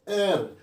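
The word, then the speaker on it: heir: पोयटेस and host hostess एयर यहां ह नहीं पढ़ना है उत्तराधिकारी कुछ ऐसे भी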